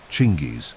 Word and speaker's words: Chinggis: The name Genghis, or Chinggis in its original pronunciation, carries with it the mystery of ancestral titles.